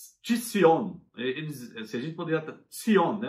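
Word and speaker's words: ציון: Tzion, né? É uma letra em hebraico que é muito difícil de pronunciar, porque é uma mistura entre a letra T de tatu e Z de zebra.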